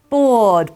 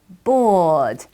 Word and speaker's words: bored: say that's it she's bored bored in one syllable bored very good now we're